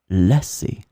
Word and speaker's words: lasser: So remember that these two verbs can be pronounced the same way. First one, lasser. Second one, lasser.